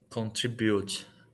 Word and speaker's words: contribute: at the end but contribute good contribute but the stress is on the SEC the second syllable like this contributes yeah so s on the second contribute contribute okay how